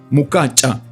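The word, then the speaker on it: mukecha: mortar grinder called mukacha The Sound chair here is pronounced with a click of the tongue like mukacha the lady takes a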